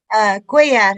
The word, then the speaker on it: Cuellar: Is that how you pronounce that? Cuellar.